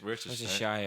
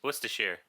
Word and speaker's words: Worcestershire: pronounce it. Where's the shas? Worcestershire. Where's the shire? Worcestershire. Where's the Worcestershire. There you go. You guys live in England. Worcestershire.